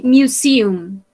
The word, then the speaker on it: museum: Remember, we say museum. Museum. Yes, this is the correct pronunciation.